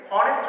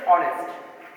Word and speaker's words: honest: যেমন আমরা যদি প্রনাউন্সিয়েশন করি যে এটাকে হনেস্ট বলা যায়, আমরা জানি এসটা হ উচ্চারিত হয়, কিন্তু এক্ষেত্রে হনেস্ট রাইট প্রনাউন্সিয়েশন হচ্ছে অনেস্ট। সেজন্য এসকে সাইলেন্ট থাকার জন্য এটা আনসারটা হবে কি অনেস্ট।